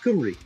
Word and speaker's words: Cymru: So like in Welsh, the letter Y is pronounced as a U sound. So, like, Wales in Welsh is spelled C-U-M-R... No, C-Y-M-R-Y, but it's pronounced Cymru.